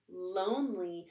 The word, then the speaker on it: lonely: word for you too there's that silent e again helping that o make its long sound o e that y